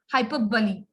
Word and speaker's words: hyperbole: they will ask you which is the right pronunciation of this word so this is not hyperbole this is hyperbully okay everyone a hyperbole is an extensional exaceration